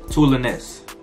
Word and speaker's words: Toulonnais: We call them Toulons, but they pronounce it Toulonnais.